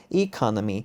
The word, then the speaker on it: economy: para ficar padrão policy economy e quando me até mais evidente que você vai ver que até a sílaba tônica mudou aqui eu digo o economics é o curso e aqui eu digo economy brasil z kami lol